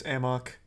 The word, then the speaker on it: amok: much of a headache it's not pronounced a muck in the game it's amok it's not a muck